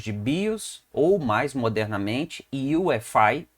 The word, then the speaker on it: UEFI: Nós vamos entender o que é o que nós chamamos de BIOS, ou mais modernamente, UEFI, escreve UEFI, mas se pronuncia os termos, as letras em inglês, tá bom?